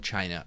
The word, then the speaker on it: Qin: under the qin dynasty q-i-n but it's the pronounced che and that's where we